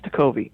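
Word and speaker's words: Tekulve: Yes, that's Tucolvi.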